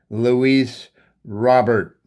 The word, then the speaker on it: Luis Robert: So I know we weren't sure how to pronounce his name, but this is one of the games I wanted to tune in to find out what was going on with his name. They call it Luis Robert.